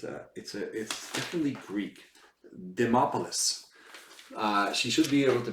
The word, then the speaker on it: Demopoulos: Vandopoulos or something, whatever her name is. What's her name again? How do you say that Greek name? It's definitely Greek. Demopoulos.